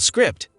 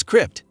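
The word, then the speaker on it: scrypt: lady coheng uses a different proof-of-work consensus mechanism than Bitcoin called Script pronounced as Crypt Which is less energy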